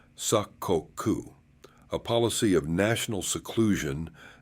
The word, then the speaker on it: sakoku: The Tokugawa shogunat grew increasingly hostile to Christianity, eventually banning it outright and finally imposing sakoku, pronounced sakoku, a policy of national seclusion that shut Japan off from most of the world for over two centuries.